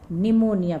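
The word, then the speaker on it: pneumonia: दूसरा रोग आता है बच्चों न्यूमोनिया, है ना। निमोनिया, पी साइलेंट है, निमोनिया।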